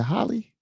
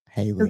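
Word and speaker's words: Halle: Is it Holly? Haley? I think Haley. Is it Haley? Haley. Holly Berry is Holly. No, it's Haley. Haley, yeah. Yep. And Haley Bailey. Yeah. Mm-hmm. Haley, it rhymes.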